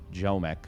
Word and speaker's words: Ziomek: I used to think it was Ziomek for a very long time, but I've been told it's Ziomek.